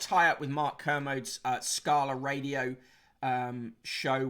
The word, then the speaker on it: Kermode: uh you have such mixed opinions on mark kermit kermode i like him uh mark canosis don't worry about it mick wright pronounced mice rig heart st behave yourself uh